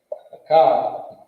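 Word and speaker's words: אחד: Shanya, and this is how you say it. You pronounce it Akkad. Akkad.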